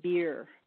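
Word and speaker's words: BEIR: And there's always a bad joke because the acronym is pronounced BEER, but it's B-E-I-R, Biological Effects of Ionizing Radiation.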